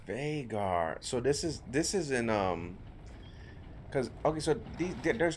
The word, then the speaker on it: Vhagar: I like that the way his name is spelled. A-L-Y-N. Vhagar? It's Vhagar.